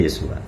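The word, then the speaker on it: ישוע: Jadi kalau dibuka itu kan Yod, Shin, Waf, Ayin. Bacanya Yosua.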